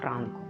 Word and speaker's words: Франко: трохи запитаю так от правильніше в його прізвище наголос зробити саме на перший склад Іван Франко поїхали далі ось це